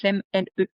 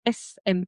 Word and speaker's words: Lesme: Donc Lem, Lesme. On ne prononce pas le S.